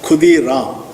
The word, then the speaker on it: Kshudi Ram: But Bengalis normally pronounce Ksha as Kha. So the name was pronounced as Khudi Ram.